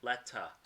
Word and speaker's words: letter: are a British pronounced a British person would pronounce it Letta Letta Letta Letta same